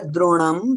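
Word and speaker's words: द्रोणं: And you did pronounce it correct here, droṇaṁ, but I didn't see anybody else do it properly. Droṇaṁ. It is not N, it is ana.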